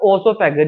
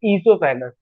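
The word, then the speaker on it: oesophagus: ये ईसोफेगस है, इस ईसोफेगस में ओ साइलेंट होता है। इट इज नॉट ओसोफेगस, this is ईसोफेगस।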